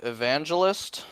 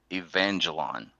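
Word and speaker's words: Evangelion: You are just about as bad as my son pronouncing that. But at least you got it closer to the actual name. Neon Genesis Evangelon.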